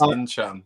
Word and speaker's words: Ntcham: Newcastle were offered Olivier Ntcham, if I said that right. No, it's Ntcham. Olivier Ntcham.